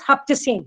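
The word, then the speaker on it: Haft-Seen: Again, they have again a saptadan only, but they call it as haftashin, that is 7 they pronounce S as H. So Saptasin becomes, so Saptadan becomes Haptasin here.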